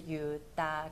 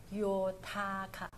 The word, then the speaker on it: Yotaka: 在罗马拼音发成 D 的音、所以是 Udaga 而不是 Yotaka、所以正确念法是 Udaga，所以有点像日文对不对？